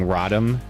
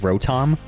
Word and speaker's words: Rotom: Yeah, people were were teasing me at the at locals when I was saying rodom like rodom like pronouncing it like rodom instead of rotom.